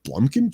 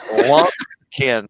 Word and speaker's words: Lumpkin: He said Blumpkin County? Lumpkin, like a lump of coal.